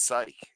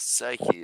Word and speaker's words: psych: It's psych. It's not psyche.